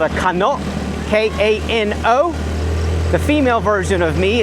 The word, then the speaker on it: Kano: K A N O. The female version of me is a kanak. K A N A and it's pronounced kano and ka.